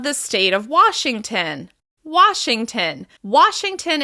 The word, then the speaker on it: Washington: Washington is stressed on the first syllable. Washington. Washington. Washington. You can really hear the reduced syllable at the end of the word.